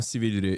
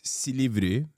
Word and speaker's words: Silivri: He said it wrong. It's not Silivri. It's Silivri.